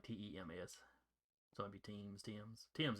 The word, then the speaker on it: Thames: Yeah, it's pronounced like Tems.